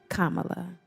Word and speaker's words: Kamala: vice president kamla Harris Kamala Kama like the pronunciation and I know that